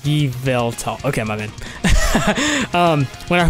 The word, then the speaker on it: Yveltal: And you know, when I very first started GaMetal, Yovetal is pronounced Yveltal.